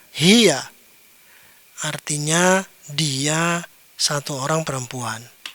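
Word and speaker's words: هي: Kemudian yang ini ini dibaca hiya ya tidak dibaca yang lain pasti dibaca hiya.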